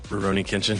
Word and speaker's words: Rurouni Kenshin: going to talk about Rurouni Kenshin which sounds like you're not pronouncing it right when you say it reroni kitchen yeah anyway it feels feels like it's not right but it is uh we're gonna talk